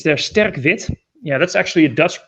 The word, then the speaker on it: Sterk Wit: trying to get this in frame it's their sterkvit yeah that's actually a dust pronunciation i just wanted him to pronounce like